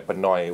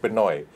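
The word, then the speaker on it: Pnau: you know like the elton john and the pinoy what how do you pronounce that grouping p-n-a-u pinoy but now now wow yeah it's so it's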